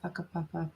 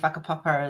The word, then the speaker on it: whakapapa: Pounamu is greenstone, and whakapapa is like your ancestry or connection to the earth. Yeah, I knew that one. I just couldn't remember. Yeah. But so obviously in Maori the WH is pronounced F.